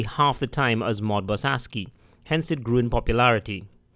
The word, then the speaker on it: ASCII: the two modes were Modbus RTU and Modbus ASCII es CI is pronounced ASCII and is really the American Standard Code for